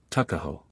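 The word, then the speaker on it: Tuckahoe: not belong to him Eastern Shore men usually pronounce the word Tu as tuck Tu a ho therefore is in Maryland parlaments takaho but whatever may have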